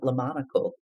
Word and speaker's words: Le Monocle: And please correct me if I'm saying, because I think you pronounced it differently, Lillian, Le Monocle. Is that how you said it?